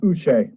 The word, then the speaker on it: Uche: Yes, and I believe it's pronounced Uche, by the way, Josh Uche.